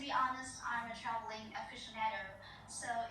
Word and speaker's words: aficionado: Không có ai nói là traveling aficionado cả, aficionado mới đúng.